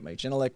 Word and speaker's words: Genelec: I have my Genelec monitors. Genelec or Genelec, depends on where you're at in the world. Most Americans say Genelec, but anyway, I do have I do have monitors and a sub.